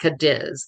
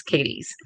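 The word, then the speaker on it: Cadiz: Uh, it's spelled C A D, but it's not Kadis like in Spain, it's Katies. And so, right between it,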